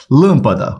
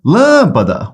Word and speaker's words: lâmpada: Lâmpada, ó, separa sílabas. Ok? Chama pela palavra. Lâmpada, onde se prolonga? Última, penúltima, antepenúltima. É a antepenúltima sílaba atônica. Então ela é uma proparoxítona. Toda proparoxítona é acentuada.